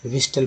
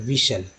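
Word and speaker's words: whistle: हैं जो गलत है, विस्टल पढ़ते हैं जो गलत है, विशल। टी को साइलेंट कर दिया गया क्योंकि टी के पहले एस है, टी के पहले एस एफ रहे तो टी साइलेंट रहता है।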